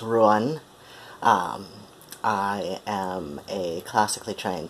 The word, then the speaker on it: Ruadhán: I'm Ruan, that's Ruadhán, pronounced Ruan.